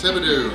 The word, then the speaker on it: Thibodaux: Thibodeau. Yes, Thibodeau.